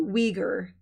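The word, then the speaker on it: Uyghur: communist yes that's what somebody wrote me oh we ger we ger okay that's how you say it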